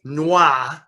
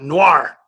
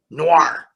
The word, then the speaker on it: film noir: uh my friends my french friends tell me that the r is actually there so to say noise where there is no r at all is actually incorrect and but i find that in pronouncing it and when i first started doing all of this i was an adamant american you know saying i'm going to call it noir noir film noir but um but now